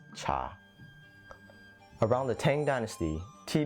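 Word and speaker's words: 茶: chinese lesson for you in cantonese you pronounce tea as cha around the tang dynasty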